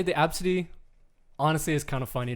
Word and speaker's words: Abcde: can phonetically sound out the name. Absidy. If you spell ABCITY. It's Absidy, baby.